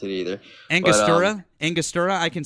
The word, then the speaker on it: Angostura: Don't worry, I can't pronounce it either. Angostura?